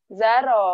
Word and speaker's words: Zaro: Mbak Zaro ya, panggilannya Zarah nih namanya. Mbak Za, Mbak Za aja Z ya. A aja. Oke, kan namanya Zaro. Bacanya Zaro apa Zara? Iya, Zaro. Zaro.